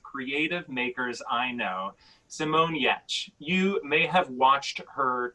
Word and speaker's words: Giertz: were trolls because it's spelled g-i-e-r-t-z but it's pronounced yatch which makes um but